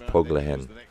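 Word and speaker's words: Poglajen: I'm sorry, Poglehen. I forgot that the J is pronounced like an H in Spanish. Poglehen.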